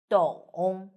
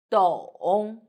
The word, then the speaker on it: 懂: In this video, I will teach you how to pronounce it, how to write it, and how to use it. First, let's read together. 懂的 on together 的 on 咚 and third tone 懂 very good.